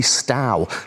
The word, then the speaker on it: Stow: I need to watch my pronunciation. It's definitely Stow, but there is a Stow down in England, so I keep getting them mixed up.